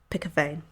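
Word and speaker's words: pikkewyn: pick a vein pronounced pick a vein that's really cool really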